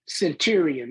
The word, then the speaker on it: Centurion: I saying it right Century Centurion like the uh 100 soldiers yes Centurion yeah you are released October 2009 but you are exonerated officially February 2012.